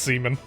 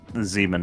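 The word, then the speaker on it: Siemens: even no I I hadn't even considered that it would be pronounced Sean I thought it was like s something I think that would be the German rep uh pronunciation yeah it would probably be like Zan actually Zan he had been researching on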